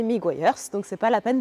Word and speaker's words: Meguiar's: n'est autre que mers alors plusieurs prononciations possibles miguers miguers c'est moi tu m'entendras le prononcer miguers donc c'est pas la